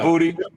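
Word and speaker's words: Boutte: Is it Booty or how do you say his name? I can't say his name. Yeah, Booty. Yeah, I'm not.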